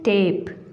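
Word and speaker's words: tape: तो next is टेप. टेप में ये जो ई है ये साइलेंट है और इसे हम पढ़ते हैं ए. ए की आवाज़ आती है इसमें क्योंकि ये लॉन्ग वावल साउंड ऑफ ए है.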